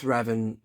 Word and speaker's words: Revan: it comes there is ravan some people people pronounce it ravan don't they Darth ravan it's Revan isn't it look at him what a badass